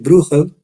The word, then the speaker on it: Bruegel: Bosco y de Peter bruel que se escribe bruegel y en holandés le dicen bruel y Qué quiere decir